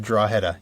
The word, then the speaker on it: Drogheda: I did ask him how to pronounce it. He said Drogheda, yep.